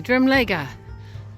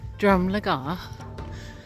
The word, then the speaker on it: Drumlegagh: how you say it hey drum Lega not drum legga now I've reached the